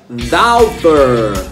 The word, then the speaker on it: daughter: E a filha, daughter, daughter, daughter. Se escreve aí, ó, como você tá vendo aí, mas se pronuncia daughter.